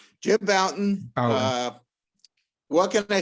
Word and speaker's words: Bouton: I've got Jim Bolton. I know I've pronounced that wrong, but it's accent. Jim Bouton.